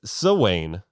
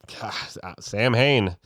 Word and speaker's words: Samhain: never met the guy it's uh actually it's so Wayne really so yeah I would have never never would have guessed in 100 years it's like Rumpelstiltskin I would never like to pronounce this word Sam Hayne they have a lot of odd pronunciations the